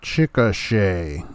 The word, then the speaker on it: Chickasha: are you doing now it's pronounced uh chickasha all right where did